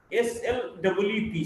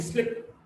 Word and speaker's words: sleep: SLEEP, sleep, the vowel sound is little longer, and SLIP, slip, the vowel sound is shorter.